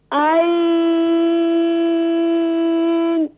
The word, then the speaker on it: ع: yes za, za, za, ain, please pronounce from middle of throat جی ain, عين ain, ما شاء الله ain, ain, ain.